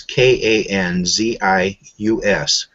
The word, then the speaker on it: Kanzius: They can look up the name John Kansas, and it's pronounced just like the state Kansas, but it's Kanzius.